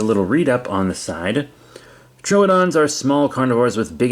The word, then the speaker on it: Troodon: Trodon. I'm told it's pronounced Trodon. I've always read it as Trudeon.